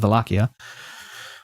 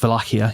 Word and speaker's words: Wallachia: He's from a place called Wallachia. It's not actually pronounced that way. It's Wallachia. You don't say the C, really.